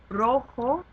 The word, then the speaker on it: rojo: So some examples of this, um, rojo, which means red, rojo. Because it ends in a vowel, o, the emphasis goes on the second to last syllable.